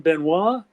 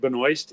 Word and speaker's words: Benoist: to pronounce your name benois and I said no he said I said a lot of guys in in the military and stuff pronounce it Benoist English Benoist French benois but I said there